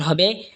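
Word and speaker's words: ح: জিম জিহ্বার মধ্যখান তার বরাবর ওপরে তালের সঙ্গে লাগা উচ্চারণ হবে জিম। এরপর এটা হলো হা। হা হলকের মধ্যখান হয়তো উচ্চারণ হবে হা।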